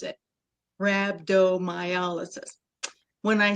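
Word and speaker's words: rhabdomyolysis: Um, so when I say it, I say rabdtomyolysis. That's how you pronounce it. Rabbdoiolysis.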